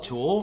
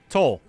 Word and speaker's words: Tool: Toll. What? He says it Oh, right. I think dear. he says it Toll? good. Matt, I say it right. Tool.